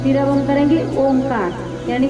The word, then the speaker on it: ओम: word से बना है अ उ और म तभी पूरा ओम बनता है अ उ म ठीक